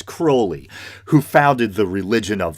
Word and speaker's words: Crowley: rituals inspired by Alastair a lot of people say Crowley I believe the proper pronunciation is Crowley who founded the religion